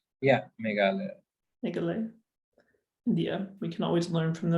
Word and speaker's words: Meghalaya: The Asia's cleanest village is, how do you pronounce that, Meghalaya? Yeah, Meghalaya.